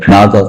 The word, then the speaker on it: GNASA: இந்த நாசா simple GNASA, அதை வந்து நாசான்னு சொல்றோம், ப்ரொனவுன்ஸ் பண்ணுவோம் நம்ம.